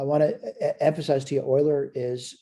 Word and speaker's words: Euler: all right i want to emphasize to you euler is spelled e u l e r but his